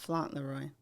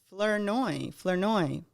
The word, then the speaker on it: Flournoy: Flaunroy. Not Fauntleroy. It is Angela Flournoy.